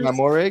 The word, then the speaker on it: Moehrig: I feel like I've mispronounced his name as well, but Moring. He used to play for the Trayvon Raiders. Moehrig.